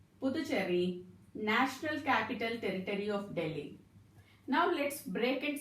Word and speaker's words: Delhi: In Delhi, H is silent, children. Delhi. Delhi.